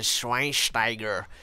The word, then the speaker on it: Schweinsteiger: Into midfield, starting from the right centre mid position, we have gone for Bastian Schweinsteiger. You have to say his name with the German accent.